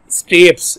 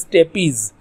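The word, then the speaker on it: stapes: This is नॉट स्टेप्स, इसको स्टेप्स नहीं कहते, इसको कहते हैं स्टेपीज।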